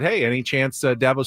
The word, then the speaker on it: Dabo: It's Dabo, as in apple, Dabo, and I get all kind of pronunciations of that, and it's Sweeney, as in just like EE.